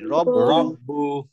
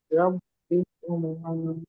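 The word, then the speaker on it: رب: আজকে কি শিখলাম যে র তে যখন জবর হবে তখন আমি উচ্চারণ রা বলবো না যেমন রাব্বু বলবো না রব্বু আর রাহমান না আর রহমান রব্বিকুমা রাব্বিকুমা আমরা যদি কারোর নাম বলি না যে রাব্বি আসলে রাব্বি না রব্বি হ্যাঁ আমরা ওটা ভুল বলি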